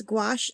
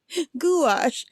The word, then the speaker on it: gouache: Gouache. It does look like gouache, right? Because the goo and the ash, like goo ache. It's like earache, goo ache.